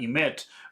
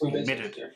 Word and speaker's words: emitted: t or a d you have to add a new sound at the end. So this is not the past pronunciation of this is not emit but emitted because it ends with a t. It's emitted.